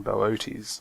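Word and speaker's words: Boötes: has arrived at epsilon this is epsilon bootes i'm not sure um who decided to pronounce it that way but that's apparently how you pronounce it i much prefer booties myself anyway um so this one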